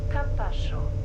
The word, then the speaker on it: Campascio: I think it's Campascio. Soft, with a soft C. The speed limits on this line are just so slow. Nächster Halt, Campascio.